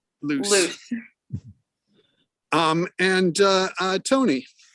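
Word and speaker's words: Luce: cortizone and lucy okay actually i think it's pronounced loose loose um and uh uh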